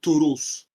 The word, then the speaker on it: torus: Yeah, and indeed, written as such, but the rune is pronounced Turus.